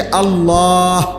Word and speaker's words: আল্লাহ: শেষে আল্লাহ। শেষে একটা গোল হা আছে। ছোট হা।